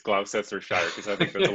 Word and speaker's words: Gloucestershire: It's Gloucestershire, but I have to say in my head,